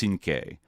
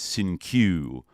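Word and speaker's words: Cinque: name that he the the name he's allegedly named after should be pronounced sinke like kind of like a five right or whatever. And um he mispronounced it as sinq you know so that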